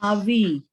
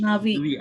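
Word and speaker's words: נביא: Again, Aleph is a silent letter and it shows its presence.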